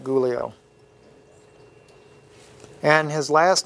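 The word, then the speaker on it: Giulio: day we're in uh gulio miti is spelled GI IU L IO I know it doesn't look like gulio and his last name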